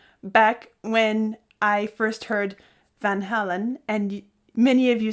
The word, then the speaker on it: Van Halen: had this discussion back when I first heard Van Halen and many of you said no no no no no no no the band is named Van Halen and so there was this whole dynamic discussion